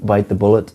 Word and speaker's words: bite the bullet: And the correct pronunciation of this is to stress or emphasize bite. Bite the bullet, not bite the bullet.